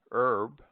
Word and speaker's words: herb: d pronounced as J omit the H in air heiress herb honest honor Osler our humor and